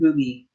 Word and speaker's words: RWBY: Ruby is spelled RWDY, no E. RWBY. RWBY, Ruby.